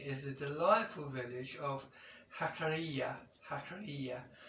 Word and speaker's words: Jacarilla: a delightful Village of hakara hakara it's pronounced with the J but of course in Spain it's pronounced the J is pronounced as H hakara uh and hakara is